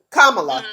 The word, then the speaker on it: Kamala: camelot the best one the best way to remember how to pronounce it is it's comma law so like kamala so cause i've never